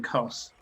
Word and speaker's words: Khos: Kos, by the way, is spelled Khos.